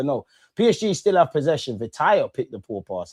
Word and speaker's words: Vitinha: It's Vitinha here.